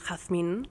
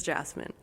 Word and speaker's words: Jazmin: Hi friends, I'm Jazmin, originally pronounced Jazmin, but in English it's Jazmin.